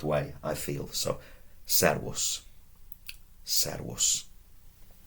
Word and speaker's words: servus: Remember what I said about the V? That was avis, servus. It's not the end of the world if you pronounced it servus, okay?